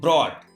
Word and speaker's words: brought: If at the last of any word GH or GHT is found, in that condition GH is silent.